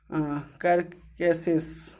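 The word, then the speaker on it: carcasses: यहाँ पे इसका शुद्ध उच्चारण होगा कैरकेसेस, एक्सेप्ट फॉर 2 वाटर बेफेलोज।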